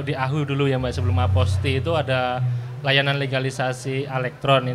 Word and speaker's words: apostille: itu apo STIE lele apostille gitu kalau dibaca ya Hai tapi cara baca yang benar itu adalah apostel iya iyalah apostel jadi lelenya tuh nggak dibaca hilang karena itu merupakan dari